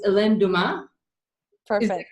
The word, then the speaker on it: Helene Dumais: Her name is, and I hope I pronounce this right, because my French is really not that good. It's Helene Dumais.